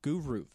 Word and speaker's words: Groovru: It's not Hines, but it is Matt Tucci from Groovru. Groovru. There we go. We got it. I finally said it right, because you know me and saying things that are different, I screw it up.